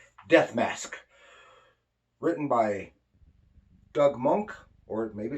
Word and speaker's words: Moench: uh writer doug monk that's why i'm going to pronounce it monk he's born in 1948